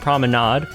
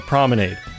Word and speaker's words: promenade: Paris is way more wrong compared to my pronunciation of promenade. Paris Promenade is 2 English words that I'm pronouncing correctly in English.